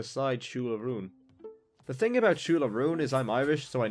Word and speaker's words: Siúil: The thing about Siúil is I'm Irish, so I know I'm pronouncing it correctly when I say that.